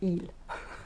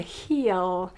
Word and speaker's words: heel: stitch eel heel not eel which will be disgusting the heel you know in french we don't pronounce the h it's really not something